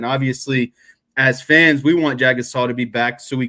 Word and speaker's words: Jagusah: Jagusah. I'll just say Charles. Jagusah. It's not that hard. Come on, you can do it. Jagusah.